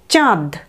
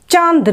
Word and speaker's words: চাঁদ: চা, তারপর দ, চাঁদ। চাঁদ নয় কিন্তু, চাঁদ।